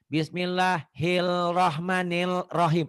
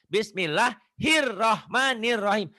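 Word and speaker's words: بسم الله الرحمن الرحيم: enggak minjam kuping orang ada orang yang baca gini bismillah hilahmanirahim l-nya dibaca padahal itu Alif lamnya enggak dibaca harusnya bismillahirrahmanirahim Alif lamnya ada tapi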